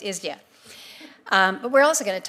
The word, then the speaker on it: ISDEA: I call it ISDEA. Does anybody else call it ISDEA? There's been such debate about the correct pronunciation. So as a committee, I would like us to agree on just calling it ISDEA?